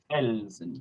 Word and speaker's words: Felsen: That should be a felsen. That should be a Z sound.